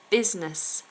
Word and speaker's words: business: a squirrel uh metaphysical business Biz a z sound business if you work in business or you want to do business then you must remember that first s is sounded like a zed business um Emon Center